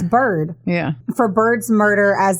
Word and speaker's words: Byrd: just as responsible for Beard's murder beard I keep saying beard cuz it's spelled b y r d so sorry it's Bird yeah for Bird's murder